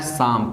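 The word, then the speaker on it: psalm: सिंग ए एक भजन ना, तो भजन का मीनिंग होता है शाम, PSLAM। इसमें P और L शांत रहता है, साइलेंट मोड में रहता है, लेकिन PLAM शाम होता है।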